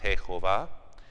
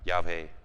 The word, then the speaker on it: Yahvé: mitad del siglo XX, era más Jehová, pero luego creo que tienen la más evidencia para decir, no, más bien se pronunciaba Yahvé.